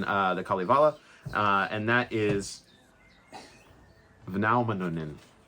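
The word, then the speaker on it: Väinämöinen: VAINAMOINEN. Moinen? Yeah. VAINAMOINEN. VAINAMOINEN. Yeah. It sounds like I'm saying good morning. Yeah. VAINAMOINEN. Yeah. Let's do it one more time. VAINAMOINEN. VAINAMOINEN. Moinen. Yeah. VAINAMOINEN.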